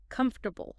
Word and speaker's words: comfortable: comfortable Think about sitting on a very soft sofa.